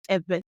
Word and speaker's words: Ewe: We have maintained the name, our name, the original pronunciation of our name, which is Ebe.